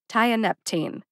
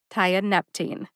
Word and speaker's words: tianeptine: teen like a teenager tie a Neptune tya Neptune the third syllable NEP gets the emphasis see if you can hear it when I say it slowly how did I know